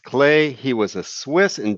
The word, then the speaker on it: Klee: artist named Paul clay looks like Klee but it's pronounced clay he was a Swiss